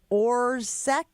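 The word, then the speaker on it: Orzech: Jair Alexander, Christian Watson, Elton Jenkins, Matt Orsk.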